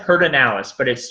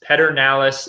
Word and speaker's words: Pedernales: but here's the thing it said pert analysis spelled Pedernales nied ER nal es Pedernales is but it said perdón ellis i used to work